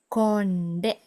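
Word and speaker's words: කොණ්ඩය: Hair is konde, konde.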